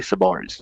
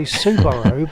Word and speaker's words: Subaru: I say Subaru and Subaru, but I don't say it like they lax in chat. That's how some people say it, and it's flippin' annoying.